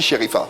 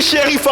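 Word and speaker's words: Cherifa: Sherifa. Oui. Ouais, Sherifa, ça s'écrit.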